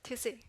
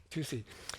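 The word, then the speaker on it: 土司: will, and it was called Tusei. Did I pronounce that right? Right, Tusei. Tusei.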